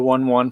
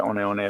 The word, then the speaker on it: One One: out his own iona they did go to one one for a time um but then they reverted back to onone is like the official way they want to pronounce it so that's a funny